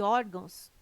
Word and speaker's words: órgãos: ah e tem correto caráter intransferível e órgãos tem suas sílaba tônica na penúltima sílaba são paroxítonas observação poderia gerar